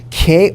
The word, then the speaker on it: qué: So as an English speaker, I think that ¿qué sounds like the letter K, so I'm going to write that down right here.